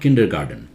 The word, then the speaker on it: kindergarten: English okay no look it's not kindergarten here's T kindergarten kindergarten ok it's a German word that means I'm fluent